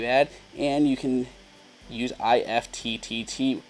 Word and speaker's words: IFTTT: and you can use IFTTT, pronounced IFT, which essentially is if-then statements for all those coders out there.